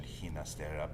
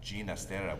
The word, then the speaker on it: Ginastera: So Ginastera actually preferred his name to be pronounced not with the Spanish pronunciation Ginastera, but Ginastera with a G like George to reflect his Italian heritage.